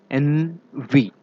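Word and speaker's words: envy: याद रखिएगा एनवी, एनवी इज the correct pronunciation for this word.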